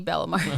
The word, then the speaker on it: Bellamar: Angie Bellamar. Okay. We'll link Mare, not Mere.